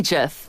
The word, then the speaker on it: GIF: I say GIF. Oh, you are a GIF. There you are. It's like Jeff with the G.